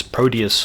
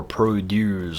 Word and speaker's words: Prodeus: Game in the back is Prodeus or Prodeus or Prodeus. The former is the proper pronunciation, but I'm a free man and I can say it however I want.